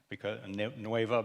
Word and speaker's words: nueva: Nueva because it's coming now from Spain and not from France. И новое произносится теперь на испанский манер, потому что это слово пришло из Испании, а уже не из Франции.